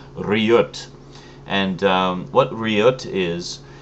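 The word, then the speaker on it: Riget: for me uh correcting my pronunciation I'd been pronouncing it re all this time and apparently that's completely wrong but it's actually pronounced rot and um what Riot is is basically what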